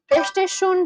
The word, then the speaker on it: Östersund: Östersund is located in... You actually got what I meant. Oh my god, so my pronunciation has become better.